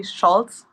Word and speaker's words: Scholz: It's actually Scholz, but it's just German, and that's fine.